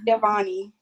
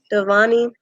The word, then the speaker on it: Giovanni: Name's Giovanni. Devani?